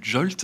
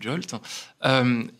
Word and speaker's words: JWT: On peut utiliser des jetons JWT, qu'on appelle souvent du JOLT. Ça se prononce souvent du JOLT.